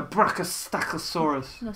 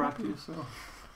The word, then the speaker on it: brachiosaur: Oh, and this dinosaur is called That's a brachosacosaurus. Say it properly. You have to say it's a brachiosaur.